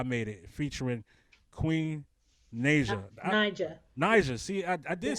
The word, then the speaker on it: Naija: Naija.